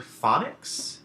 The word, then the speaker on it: phonics: these words out loud you'll notice that the pH as well as the gh make the sounds that we associate with the letter F so in other words